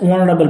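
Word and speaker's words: honorable: সি দেখো ব্রুটুস is dash অনারেবল ম্যান, দেখো এইচ কিন্তু সাইলেন্ট, দেখে লাগছে কনসোনেন্ট বাট এইচ কিন্তু সাইলেন্ট, উচ্চারণ হয় না, ভাওয়ালের মতো উচ্চারণ হয় অনারেবল, তাহলে ভাওয়ালে যদি উচ্চারণ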